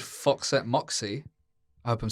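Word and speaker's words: Foxette Moxy: got a new solo project which is correctly pronounced Fox at Moxy not what you said it's yeah you did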